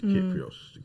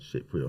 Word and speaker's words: Kyprios: surely it's Kyprios. Kyprios. What did I say? Cyprios.